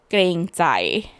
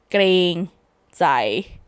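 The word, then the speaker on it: เกรงใจ: I'm gonna say it again in case anyone out there who wants to learn it. The word is kreng zai. Maybe if I spell it, you can understand the way I pronounce it better. It's Kreng. That's kreng. And zai is Jai.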